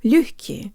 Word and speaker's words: лёгкий: to pronounce the word лёгкий, or easy. Let's say the second syllable with good Russian default mouth position. Jaw slightly forward, tip of the tongue behind the bottom teeth, lips rounded and protruded.